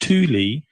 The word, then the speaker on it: Thule: It's actually pronounced Thule.